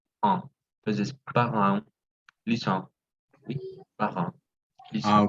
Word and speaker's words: parents: Entonces, siempre que sea EN o EM, es más una nasal. Entonces, parents, lisant, oui, parents, Ah, lisant, ok.